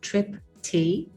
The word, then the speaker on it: Tripthi: It's pronounced Tripthi, and the last name is.